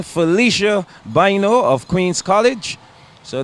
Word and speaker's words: Felicia: and here comes Felicia boo phel Felicia correct pronunciation Felicia boo of Queens College so they're one two